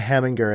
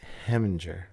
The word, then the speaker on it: Heminger: name is Right last name was a less hard G so it's not hamminger it's just like heminger just you just slur it a little bit just pretend just pretend you've had like one and a half beers when you say my last name and then the pronunciation is usually dead on Matthew havinger I can't